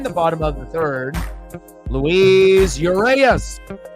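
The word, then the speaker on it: Luis: for Seattle in the bottom of the third Louise uras not uas popped up on the warning track o one away and I have to spell it you know so that way remember how to say it Louise l u i s space the letter u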